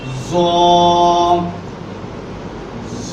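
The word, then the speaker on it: ظ: জ জ, এটি উচ্চারণের স্থান হচ্ছে জিহ্বার আগা সামনের উপরে দুই দাঁতের আগার সঙ্গে লাগাইয়া একটু মোটা আওয়াজ দিয়ে বলতে হবে, আওয়াজটা একটু নরম হবে।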